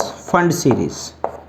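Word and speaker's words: Pfund: और last one इज फंड सीरीज, P silent है, फंड सीरीज।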